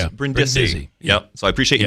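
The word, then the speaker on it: Brindisi: People would emphasize Brendy or And then Brendi. Yeah. And you clarified it was Brendi.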